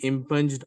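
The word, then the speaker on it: impugned: है कैसा पढ़ते सर बाय the virtue of इप ऑर्डर जी साइलेंट है साट व ऑ डर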